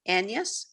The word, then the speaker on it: Agnes: my friend it wasn't for this gn like anias yeah that's what i read that that's how it would have been pronounced almost like penis yes